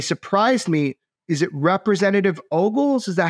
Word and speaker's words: Ogles: Is it Representative Ogles?